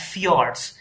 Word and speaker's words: fjords: this is known as fiords FJ o r DS f i o r DS many times so this J is pronounced as y so in Norway and